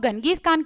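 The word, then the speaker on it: Genghis Khan: चंगेज खान जिनकी death हुई थी 1227 में, और इंग्लिश में इनको कुछ लोग गंगीज खान कह देते, तो दोनों ही करेक्ट है, इतना उस पे मत जाया करो नाम पे, ठीक है ना।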